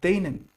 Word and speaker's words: denen: Now we can't say den plus an extra n. We kind of put it together like denen, and we call denen dort.